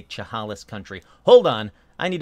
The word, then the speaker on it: Chehalis: Oh, man, I should learn how to say Chehalis Country.